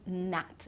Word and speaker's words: gnat: So again, we don't pronounce with these words and some others. This is just, a shorter list. So gnome, gnat, which is like, that's a small insect if you didn't know the word.